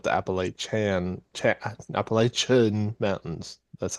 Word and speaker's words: Appalachian: It's not the Appalachian Mountains.